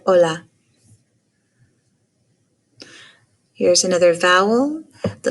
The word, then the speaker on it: hola: in the word agua the letter h is silent as in the word hola here's another vowel the